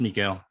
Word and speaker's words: Miguel: So it's just Miguel.